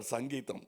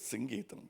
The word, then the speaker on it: Singeetam: Someone used to get very upset because they say Mr. Sangeetam. No, it is Singeetam.